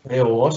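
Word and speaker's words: θεός: Theos, el acento lo tiene ahí.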